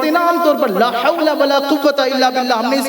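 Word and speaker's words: لا حول ولا قوة: بعض لوگ تو صحیح طرح سے پڑھنا بھی نہیں جانتے اور اس طرح سے بولتے لا حول بلا قوت، لا حول بلا قوت. یہ تو غلط تلفظ ہے. لا حول ولا قوت الا باللہ، اس کا معنی بھی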